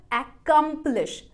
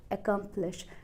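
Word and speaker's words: accomplish: वो का रही है बीच वाला जो पार्ट है उसको आपको लाउडर और लांगर बोलना है तो अब मैंने इसे अन प्रोनाउंस किया अकांप्लिश अकांप्लिश अकांप्लिश ना की aqumlish काफी सारे लोग कहते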